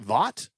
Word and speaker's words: Vogt: Is it Vogt? I believe it's Vogt. Stefan Vogt? Vogt? Yeah, go vote. All right, go vote. Everybody remember to vote. Stefan Vogt, he had a nice